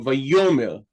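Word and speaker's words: וַיֹּאמֶר: We know it's silent because it doesn't have any vowel pointing here. Because the aleph originally is a glottal stop, it was not as easy to pronounce it as some of the other consonants. So we can see many phonological phenomena occurring around the aleph. Here, it specifically causes the aleph to be silent.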